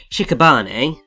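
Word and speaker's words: 屍: But his name originates from the Japanese word, which is pronounced shikabane, and it means corpse.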